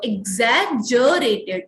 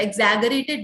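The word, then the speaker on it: exaggerated: एग्जैजरेटेड, ज होता है इसका प्रोनाउंसिएशन, ग नहीं होता। एग्जैगरेटेड नहीं, एग्जैजरेटेड the damage caused by the rowdies.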